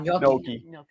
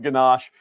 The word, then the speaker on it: gnocchi: Gnocchi. I say it wrong too then. So good. I always call it ganache.